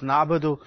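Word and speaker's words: نَعْبُدُ: Iyaka Nabudu wa Iyaka Nasta'in.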